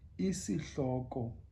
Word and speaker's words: isihloko: Now, remember, the I is E. So spelled isihloko sencwadi. So it's E, C, like as in see. It's like when you see something, when you're seeing me now, you know, C, E, C, hloko.